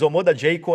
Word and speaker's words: Omoda Jaecoo: Mas Omoda Jayco é a pronúncia correta.